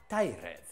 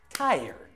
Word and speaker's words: tired: Do not say tired. The word is tired.